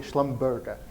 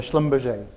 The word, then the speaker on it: Schlumberger: work for Schlumberger and Donna's correctly pronounced the name of the organization most people struggle and call it Schlumberger but it's a Schlumberger so before I start